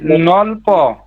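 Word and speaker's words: 넓어: এখানে নলব নলব নলব কেন নলব হবে কারণ এই যে ইয়ং আসার কারণে এটা উপরে চলে যাবে জি স্যার বুঝতে পারছেন এখানে উচ্চারণ হয় এখানে ব উচ্চারণ হবে নলব নলব এখানে ব উচ্চারণ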